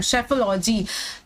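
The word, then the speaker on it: psephology: ना कि यहाँ पर हम इसका सही प्रोनाउंसिएशन तो जान ही रहे हैं कि हम इसे साइकोलॉजी और इसे सेफोलॉजी बोलते हैं, लेकिन आप इसे सेफोलॉजी नहीं लर्न करेंगे। आप इसको हमेशा, जैसे मैंने पहले ही बोला, पसेफोलॉजी ऐसे पढ़ेंगे, पसेफोलॉजी।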